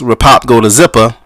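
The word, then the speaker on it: Ripopgodazippa: the title itself and the spelling it's it's pronounced repop go-to zipper but it spelled our IP o P G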